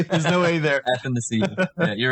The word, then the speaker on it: Athanasiou: Can address here how Neil says it's pronounced Athanasiou. I say Athanasiou. Same thing. Same thing. Same thing. You say anth? Put an N in between the A and the T. Anth.